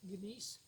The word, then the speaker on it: gneiss: It's called gneiss, spelled G-N-E-I-S-S, gneiss, but pronounced gneiss.